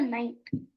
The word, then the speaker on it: knight: rook this is a Knight Knight does not spell like n i g h t it is k n i g HT but the K is silent this is the bishop